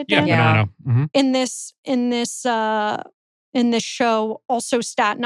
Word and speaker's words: Bonanno: Yeah, Bonanno.